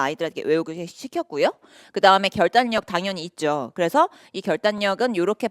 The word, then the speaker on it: 결단력: 왜냐면 표준발음법에 이게 유음화가 아니고 비음마로 되는 그런 것들이 딱 정해져 있거든요.